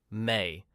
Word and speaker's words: May: May. One syllable like a door closing softly.